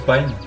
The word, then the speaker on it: Pine: On enchaîne directement avec Pine ou Pin comme vous voulez. Qui a l'air d'être un magnifique jeu aussi. Je pense peu que ça se prononce Pine.